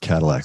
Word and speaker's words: Kadilak: pronounce my name but it is pronounced Cadillac like the car ah I apologize no